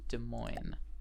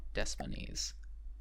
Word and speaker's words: Des Moines: believe i've been corrected i think it's pronounced des moines and not destinies which puts me in an